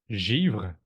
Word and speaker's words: Givre: Well, en français, it's Givre. Oh, so similar to Givre. chiffre. Oh, Givre. Yeah, Okay. similar to chiffre, but with a j at the beginning.